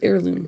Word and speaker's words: heirloom: I think it's heirloom. Yeah, that's heirloom. Heirloom. Whatever. You don't pronounce the H.